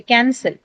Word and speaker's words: cancel: So do you say, how do you say it? Cancel, right? Cancel, not cancel, cancel. Can, then. So the stress is marked before the second syllable cell, right?